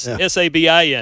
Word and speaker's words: Sabin: I don't know if it's not spelled like Nick Saban, folks. It's Sabin.